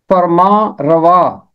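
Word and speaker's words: فرماں روا: इसका दुरुस्त तलफ़ुज़ है फरमा रवा। ये फारसी जुबान से उर्दू में आया है और फारसी में नून के साथ पढ़ते हैं, मगर उर्दू में हम इसे नून गुन्ना के साथ पढ़ेंगे, फरमा रवा।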